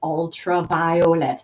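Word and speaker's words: Ultra Violet: Dufresne, better known as Ultraviolet. That's how she said her name. She specified she wanted every syllable pronounced, so it's ultraviolet.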